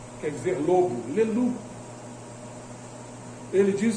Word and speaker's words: Leloup: Termina em P, mas no francês a gente não pronuncia o P. Quer dizer lobo. Leloup.